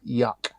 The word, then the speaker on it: Juck: If you want it to sound like proper German, it's Juck is kind of said like yuck.